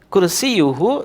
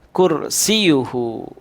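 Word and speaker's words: كرسيه: mana lagi ayyuhal ikhwah Kursi yuhu terkadang kita juga tidak membaca tasydid ianya sehingga kita membacanya dengan bacaan kursi yuhu padahal disitu ada tasydid yang seharusnya kita membaca dengan mendobelkan hurufnya yaitu kursi yuhu Nah itulah beberapa kesalahan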